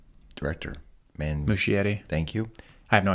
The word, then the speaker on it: Muschietti: Muschietti. Thank you. I have no idea that's how He it's actually pronounced.